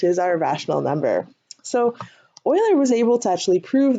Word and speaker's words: Euler: By the way, I know his name looks like Euler. It's not pronounced Euler, it's Euler. A lot of people get that mixed up.